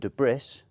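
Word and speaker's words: debris: the dirt dust and de bris silent s is no longer silent it goes on the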